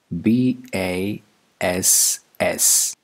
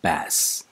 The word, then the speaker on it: bass: great anxiety number two b a s s this is not bass it's bass the voice sound is